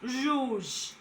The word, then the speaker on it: rouge: Now it can be pronounced in letter G of rouge.